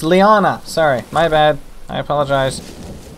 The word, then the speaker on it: liana: It's not that kind of Liara. It's just these things. Oh, it's Liana! Sorry, my bad. I apologize. It's not an R, it's an N.